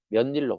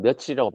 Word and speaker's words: 며칠: 그렇지 않고 만약에 며칠을 의문 변동에 맞게 만약에 발음한다면은 몇 일로 발음하는게 아니겠지. 근데 이게 아니기 때문에 우리가 몇 일로 발음 안 하고 있다라는 걸 반증한다는 거죠. 그래서 우리는 며칠이라고 발음하니까 얘는 며칠이라고 적는게 맞다라는 겁니다.